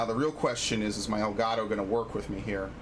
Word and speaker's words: Elgato: Oh no, it's actually Elgato. It is actually ELGATO. That is actually how it is spelled.